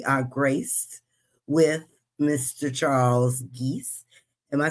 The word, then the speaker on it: Gies: Pronounce it Yeah. correctly? Gies? Okay. Yes, it is Gies.